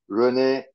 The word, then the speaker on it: René: dear Earth mates we are visiting Rene libenthal uh have I pronounced your then correctly it's correct hello Earth